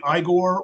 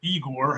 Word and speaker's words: Igor: Marty Felman, if people don't know, he played Igore or Eigor, however you want to pronounce it, throughout the movie.